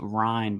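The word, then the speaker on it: Rein: We have another article in part of the Washington Post series um from our fearless Washington Post representative whose last name is pronounced Ryan by the way.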